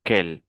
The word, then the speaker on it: quel: L'adjectif interrogatif quel signifie qualer pluriel aussi quel la prononciation est la même même si c'est masculin si c'est féminin, si c'est sangulier, si c'est pluriel.